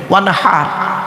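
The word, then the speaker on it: وانحر: এই গলার ভেতর থেকে এটা উচ্চারণ করবেন, ওয়ানহার।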